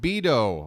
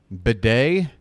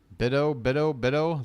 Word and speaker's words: Bido: Bidet? Bido? Bido? Like rhymes with widow?